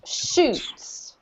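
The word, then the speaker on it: chutes: questions um yes c-h-u-t-e-s this is pronounced shoots exactly the same as that right yeah water shoots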